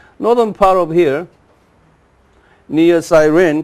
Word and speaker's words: Cyrene: Cyrene. Yeah, Cyrene. Cyrene. It's the same name. And called Kurene. Y, Cyrene, Y, spells in Y, but it pronounces U. Kurene.